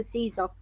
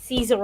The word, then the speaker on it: Caesar: feet of your master Caesar. Or Kaiser, yeah, it would have been pronounced.